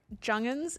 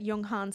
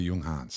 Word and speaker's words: Junghans: almost almost halfway uh jungin is how the Australians say it Yung Hans is how every other country says it right Cody Yung Hans yeah it's got a